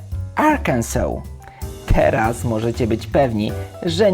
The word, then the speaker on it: Arkansas: wymowa jest tutaj karalna Gdybyśmy chcieli przeczytać ją po polsku brzmiałaby Arkas ale nie może być tak łatwo Prawidłowa nazwa tego stanu to arkansaw celu repeat please powtórzcie arkansaw teraz możecie być pewni